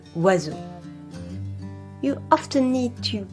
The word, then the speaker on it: oiseau: Not only are some letters not pronounced, but others are not pronounced like their written form. For instance, the word oiseau.